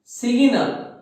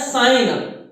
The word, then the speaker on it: sign up: देखिए, कुछ लोग इसका प्रोनाउंसिएशन जो है ना वो बोलते हैं सिंग अप या सिगिन अप। These are the incorrect pronunciation of these words, ठीक है? ये इनकरेक्ट प्रोनाउंसिएशन है, ये गलत उच्चारण है। सिगिन अप नहीं, इसको बोला जाता है साइन अप।